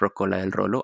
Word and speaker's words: Rocola del Rolo: It sounds a little bit hard to say, but it's the pronunciation is ROCKDELROLO, at Rocola del Rolo, and then in Instagram at Latin Jukebox _.